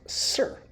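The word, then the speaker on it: sr: And this is pronounced sir, which is actually easy to remember. An official, sir, whatever you say, sir.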